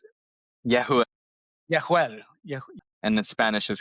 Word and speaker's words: Jehuel: Yehuel, is that how you pronounce it? Yehuel, Yehuel. and in Spanish is Jehuel.